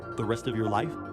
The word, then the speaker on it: 李: So family name is 李 Li, third tone.